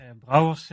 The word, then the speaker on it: Brouwers: Brouwers is my last name, which is indeed very difficult to pronounce if you're not Dutch. You can hear that the rolling R I try to pronounce as good as possible.